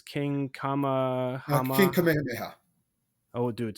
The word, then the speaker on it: Kamehameha: Can you know how to pronounce it? It's King Kamehameha.